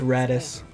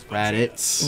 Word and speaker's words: Raditz: You said Radis. Radis? I think that's what you said. It's Raditz. Raditz. Raditz with a Z.